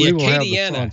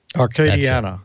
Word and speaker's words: Acadiana: It's the Acadiana for you. Acadiana Amateur Radio Association. Arcadiana, okay.